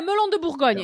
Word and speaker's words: Melon de Bourgogne: So, spell that. Me. M-E-L-O-N. M-E-R? No, M-E-L-O-N. Oh, Melon. Melon. Yeah, Melon de Bourgogne.